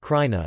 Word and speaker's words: Krajina: China pronounced Khurana is a Slavic toponym meaning frontier or March